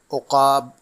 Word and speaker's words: عقاب: حاضر خدمت ہے ایک اور لفظ لے کر۔ تلفظ ایک لفظ روزانہ میں ہمارا آج کا لفظ ہے عقاب، جو درست ہے اس کے معنی ہیں شکاری،